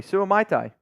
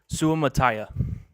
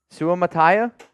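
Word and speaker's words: Suamataia: is Jared Salto lakia Cullen knows how to pronounce it Cullen the the tackle from BYU Kingsley Su Tai no it's not my can can we get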